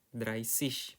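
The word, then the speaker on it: dreißig: Seperti kalian lihat nih sampai 90 bentuknya semuanya tis tapi untuk 30 pengecualian shish ya. dryish pakainya set itu.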